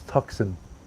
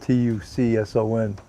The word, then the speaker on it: Tucson: remember as a kid I thought that was toxin spelled t-u-c-s-o-n and then the C is silent it's Tucson Arizona right Gerta katsuki hello